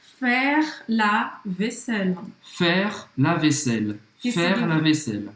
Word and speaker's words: faire: Faire. Então, de novo, não pronuncia o E no final. Aí tem som de E. Faire.